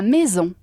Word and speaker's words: maison: Ahora, la maison. La maison. Maison. Se escribe maison, ¿vale? A-I suena E. Y tienes la S de la abeja. Zzz.